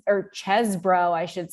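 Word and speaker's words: Chesebro: we've seen include uh Sydney Powell and Ken chees or chesbro I should say now I know how to to pronounce his name it's the cheese the cheese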